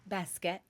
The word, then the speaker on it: Baskett: my guest what's your last name baset baset I would have probably butchered that so I'm glad that I her